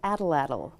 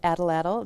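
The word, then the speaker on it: atlatl: Tools in Michigan history and this is an adalle an it is spelled ATL ATL adalle this uh tool has been used for Millennia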